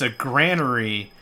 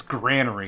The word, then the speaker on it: granary: That's not how that's pronounced. It's a granary because of the granular nature of the stuff you put in it. It's granary.